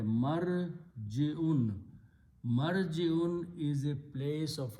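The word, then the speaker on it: مَرْجِعٌ: Put a meme in the beginning and pronounce the same way. Marji'un.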